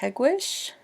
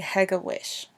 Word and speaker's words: Hegewisch: The locals pronounce it Hegewisch. We can identify non-locals when they pronounce it anything but that, and especially if they say Hegewisch.